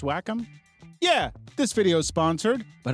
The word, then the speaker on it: Wacom: You know it's pronounced Wacom?